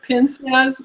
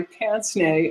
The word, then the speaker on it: pince-nez: one for pince-nez, which is, it looks like pince-nez when you see it, but it is pronounced pince-nez because it's French.